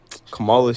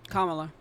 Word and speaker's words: Kamala: That's not how you say her name. How do you say her name? Kamala. Kamala.